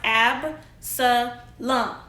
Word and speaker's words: Absalom: Okay, so Absalom, which is pronounced Ab-sa-lum, okay, was one of King David's sons. Okay, Absalom had killed one of his brothers over a serious family problem.